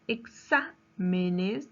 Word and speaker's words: exámenes: En la palabra exámenes, ¿dónde lleva la mayor fuerza de voz? En sa, ¿verdad? Sa. Menes. Exámenes. En la antepenúltima sílaba.